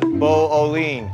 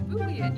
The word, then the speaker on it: Boolean: uh I don't know how do you say it it's Boolean you na it like that was amazing Boolean Boolean Boolean Boolean Boolean Boolean but it's l e a n so it looks like